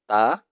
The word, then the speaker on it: ت: The only difference is that ta is a thin sound and to is a thick sound.